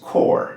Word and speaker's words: corps: But spelled this way and pronounced core is not a dead body.